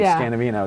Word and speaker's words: Scanavino: Rarely somebody will actually know my name, and then I know they're a true super fan, and if they pronounce it correctly, Scanavino, then that's even rarer.